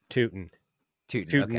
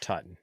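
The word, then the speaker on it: Tuten: do you pronounce it uh bashel toon toon not Tuton I didn't I didn't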